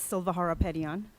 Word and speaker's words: Silva Harapetian: Hello, my name is Silva Harapetian. It is said exactly the way it's spelled.